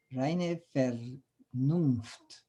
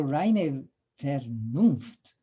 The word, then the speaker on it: reine Vernunft: Well, the V is in Victor is, I think, is pronounced like an F. Reine Vernunft.